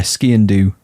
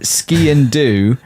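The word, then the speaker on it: sgian dubh: d u b h uh but it's yeah ski and do is is the phonetics do you pronounce the b like Siobhan or do you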